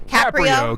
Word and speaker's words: Caprio: this um judge um Frank, how do you pronounce his last name? Caprio.